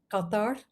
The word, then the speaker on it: Qatar: Much of Arabic is in the throat, but there are 4 strong throat letters. The Q of Qatar, that's how they pronounce it, Qatar.